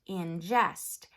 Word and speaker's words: ingest: I n G est is pronounced in jest and it's a fancy